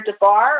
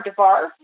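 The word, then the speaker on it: דבר: It's either Debar or Devar, the B's and the V's are the same letter, or Dever, which is the word being to speak, or Dever, which is pestilence.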